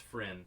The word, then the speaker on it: Fryn: I was saying it wrong. It's Fryn the way it was showing up.